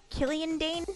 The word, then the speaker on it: Killian Dane: And Killian Dane?